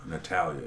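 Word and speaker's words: Natalya: Natalia, yeah.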